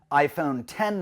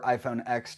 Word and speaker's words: iPhone X: have the 10th anniversary iPhone 10 that came in or iPhone X depending on how you want to pronounce it we have both a